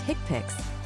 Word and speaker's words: HCPCS: HCPS level two, HCPCS, pronounced hickpix, stands for the healthcare common procedure coding system.